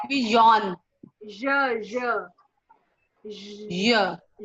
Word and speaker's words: je: This is je, not ya. Yeah. It's not ya.